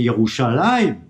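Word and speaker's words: ירושלים: Quand tu prononces le mot de Jérusalem, c'est quand même, c'est Yerushalayim.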